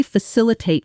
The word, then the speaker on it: facilitate: She might say again, this should really facilitate collaboration between the two offices. Shadow it. Facilitate. Facilitate. Fosilitate. Four syllables. Stress on the second.